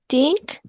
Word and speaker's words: think: But it's think, think, think, think. Think. No, es think. Pongan el ápice de su lengua entre sus dientes, en un poquito. Think.